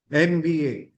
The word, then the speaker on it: MBA: Because the pronunciation starts with AM. Right? So it starts with a MBA. Right? That's why it's always an MBA degree.